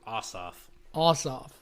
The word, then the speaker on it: Ossoff: Ossoff. Like vote your ass off.